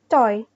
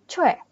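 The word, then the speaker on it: 최: dan I ini nah cara baca yang sebenarnya bukan coy Tapi bacanya Yang benar kalau secara hangel yang benar dia bacanya Cu Jadi pakai yang ini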